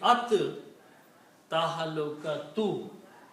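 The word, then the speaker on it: التهلكة: like for at-teen, al-teen, but we don't pronounce lam, we pronounce ra ta 2 times. Al-teen is actually at-teen. Same thing here. So it will be at tahalukatu.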